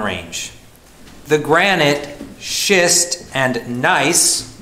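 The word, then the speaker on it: gneiss: the granite schist and nice which is spelled g-n-e-i-s-s those rocks which can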